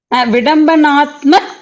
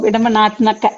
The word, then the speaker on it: विडम्बनात्मक: Vidambanatma Chitrane. Vidambanatma Chitrane. Why ik there? Oh, Vidambanatmaka.